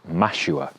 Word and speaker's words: mashua: on an unrelated note, rhymes with Nashua, which is a city in southern New Hampshire in the USA. So, if you hadn't guessed, the plant is mashua.